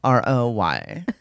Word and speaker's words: Roy: Because I can probably, I knew the hockey name Patrick Roy spelled R-O-Y. So. It's R-O-Y, bitch. That's Roy in America. Not wherever you're from.